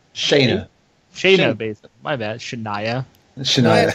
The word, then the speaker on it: Shayna Baszler: The champion, Ember Moon, defending against Shania Baszler? Shayna. Shayna Baszler.